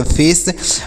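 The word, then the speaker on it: face: पढ़ेंगे तो इसे पढ़ेंगे फेस और यहां पर लास्ट में ई है तो इसका उच्चारण नहीं करेंगे हमने कई बार बताया लास्ट में अगर ई हो तो उसका उच्चारण नहीं करते हैं तो इसे क्या पढ़ेंगे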